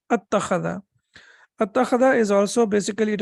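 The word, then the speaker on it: أَتَّخَذَ: mutaharrik with mutaharrik, then that hamzat al-wasl, that is sakin, is not pronounced. So it becomes attakhadha.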